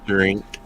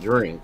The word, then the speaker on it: Jink: Jink. Jink. There you go. Jink. Yeah. It's not drink.